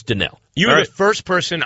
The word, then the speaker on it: Donnell: And people need to learn how to pronounce his name. It's not Donald. It's Donnell.